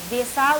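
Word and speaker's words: Dessau: इनका जन्म जर्मनी देसाउ, इसे देसो भी कहा जाता है, इसका स्पेलिंग इस तरह है, तो इसका देसो या देसाउ दोनों एक ही है।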